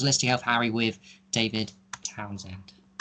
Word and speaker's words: Townshend: Yeah, so my YouTube channel is my name, David Townshend, and the Townshend has a silent H, so spell that.